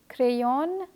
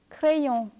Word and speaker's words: crayon: So don't say avion, crayon, but say avion, crayon.